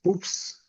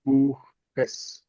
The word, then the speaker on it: Buches: So we're not going to say des Buchs, but we say des Buches.